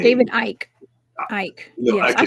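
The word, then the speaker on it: Icke: You know, because I I know I know I know that Icky did his Sorry, I got clown for mispronouncing that man's name. David Ike.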